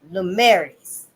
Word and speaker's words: Lumières: That changed with the dawn of a new age that came to be known as les Lumières, les Lumières in France.